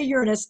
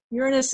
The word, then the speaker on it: Uranus: of the seventh planet the reason why we say Uranus is because that pronunciation has fewer jokes um eighth graders will always say it the other way but that's okay it's a Greek word and so the actual pronunciation in Greek is really odd and none of us can recreate it but Uranus is as good as it gets it's not really very